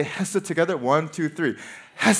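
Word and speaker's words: חסד: steadfast love comes from this Hebrew word known as hasit okay you have to like spit and use a lot of air to say it properly yes said okay can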